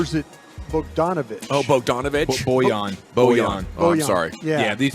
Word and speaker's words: Bojan: Bojan. Oh, I'm sorry. Yeah, these pronunciations are weird.